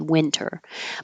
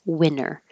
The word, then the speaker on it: winter: would keep the T, winter. But with just casual conversation, you will hear people say it without the T, winter.